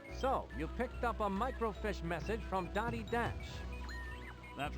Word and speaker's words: microfiche: of information except that it's spelled f-i-c-h-e uh micro fish and they're punning on that being fish so that's a micro fish instead of a micro